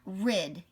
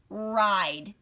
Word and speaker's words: ride: go like this and i'll say the e makes the vowel say its name the e makes the vowel say it's name it's not tack it's not rid it's ache and ride because the e's job